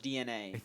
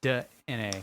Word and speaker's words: DeNA: called I want to say it's It's just pronounced DeNA. that's how it's pronounced. It's pronounced It's uppercase D, lowercase E, uppercase N, uppercase A. DeNA.